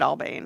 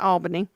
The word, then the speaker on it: Albany: So when in Albany, say it Albany. That's right. Not Albany.